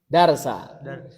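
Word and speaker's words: دَرْسًا: Darsa. Bukan darso, darsa.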